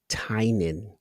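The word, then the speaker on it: Tynion: It's 2 syllables. It's Tynan. Ah, okay. It's supposed to be. Isn't it supposed to rhyme with onion or something like that? And it was one of those things where people Like tiny onion. it was supposed to be associated with it, but it's Tynan.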